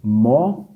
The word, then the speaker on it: Mossoró: Mossoró. Mossoró. Qual que é a sílaba mais forte? É a última.